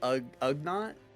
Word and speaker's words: Ugnaught: It's Ugnaught.